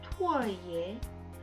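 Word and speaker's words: 兔儿爷: 앞에 영상에서 설명하지 않았던 두 번째 놀이로는요, 투얼예라는 이 놀이가 있는데, 투얼예는요, 중국어로 발음하면 토얼예 라고 해서 달에 제사를 지내거나 어린이의 장난감 따위로 삼는 인형이에요.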